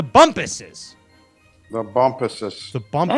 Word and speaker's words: Bumpus: It rhymes with Crumpus, but it's not Crumpus. It's the Bumpuses.